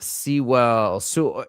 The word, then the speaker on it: Sewell: His last name is spelled the exact same way. He used to live in LA. He's back in Australia now, but it's pronounced Soul. Conrad Soul.